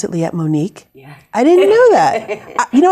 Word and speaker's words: Liette Monique: Would you pronounce it Liette Monique?